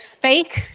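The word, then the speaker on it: PHEIC: the wh in also when you pronounce it it's it pronounces as fake it was a fake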